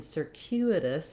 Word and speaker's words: circuitous: And we also have a difference in our U here, whereas in circuit it's silent. In circuitous, it actually represents two sounds, the y sound and the u sound.